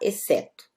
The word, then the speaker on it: exceto: Ele vai ter som de S quando eu falo, por exemplo, não, por exemplo, quando eu falo exceto, né? Exceto, ou exceto, isso aqui no português de Portugal, com o P, tá? Sem o, no português brasileiro, vai ficar exceto, ok? Sem o P, exceto.